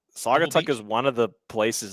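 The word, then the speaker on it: Saugatuck: but uh s yeah sagatuck is how you pronounce at least that's how I've heard it so we've we've got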